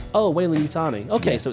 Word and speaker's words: Weyland-Yutani: How do you pronounce it? Weyland-Yutani. Oh, Weyland-Yutani.